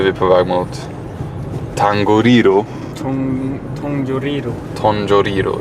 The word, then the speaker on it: Tongariro: Tongariro uttalar man det.